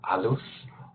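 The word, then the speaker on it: halus: um the values of Alo or casar now even though Alo is built with a h um it tends to be pronounced with a silent h and it can also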